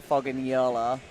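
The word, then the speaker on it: Fogagnolo: Camilla Foggin Yola. That's what we love. That's actually how her last name's pronounced.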